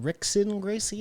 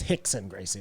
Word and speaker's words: Rickson Gracie: Oh, it's Hickson Gracie. Okay. Yeah. R-I-K. I thought it was a brother I R-I-C-K. didn't know. It's spelt with an R because of the Portuguese.